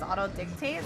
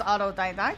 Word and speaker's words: autodidact: I'm looking at chat I've been PR pronouncing Auto disa as Auto dictate wait really oh no where going to loser yeah it's autod dact right I'm pretty sure it's autodidact it's not Auto dictate autod dictate is like